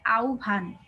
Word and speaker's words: আহ্বান: দেখো আমরা পড়বো আহবান কেউ আহবান উচ্চারণ করবে না ওটা ভুল উচ্চারণ হয় ব যখন একসাথে যুক্ত হয় তখন এটার উচ্চারণটা হয় আউভান ঠিক আছে এটা লিখেছেন